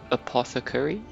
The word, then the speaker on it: apothecary: Apothecary, apparently, is the pronunciation.